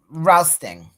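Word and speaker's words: Rousteing: How do you pronounce his last name? Rousting.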